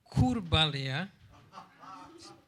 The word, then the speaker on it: Kurbalija: Kurbalija. Could you repeat? Practice it like a mantra. That'll. I think Irina can pronounce it.